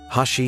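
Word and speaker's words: 箸: In Japanese, 8 is pronounced ha, and four is she, which together sound like hashi chopsticks.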